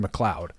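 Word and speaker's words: McLeod: corrected him on it, he chose to defend his stance of it's spelled McCleod. Well, yes, it's spelled McCleod, but it is definitely Xavian McCloud.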